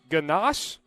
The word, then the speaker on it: ganache: be also have a nice layer of chocolate ganache did I pronounce that right I get in the thumbs